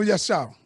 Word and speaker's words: Yashar: Yo, so with the general that we have down here, I don't want to mispronounce his name. Yashar? Yes, General Yashar.